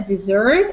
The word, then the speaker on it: dessert: Alright, and also there are two words that I don't want you to mispronounce. There is a dessert and there is desert.